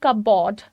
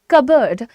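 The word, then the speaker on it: cupboard: तो उसके लिए बहुत सारे लोग बहुत प्यार से बोलते हैं कपबोर्ड। कपबोर्ड कपबोर्ड बोलने से नहीं वो अच्छा हो जाएगा। The pronunciation itself is कबर्ड। इसमें आपका पी जो है वो साइलेंट होता है।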